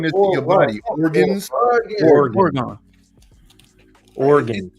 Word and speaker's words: Oregon: Oregon. It's 2 syllables. Oregon. The same way you say again. But it's not gun.